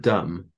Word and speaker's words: dumb: So we had the word dumb, D-U-M-B, which would originally have been pronounced dumber, and then obviously it gained a silent B.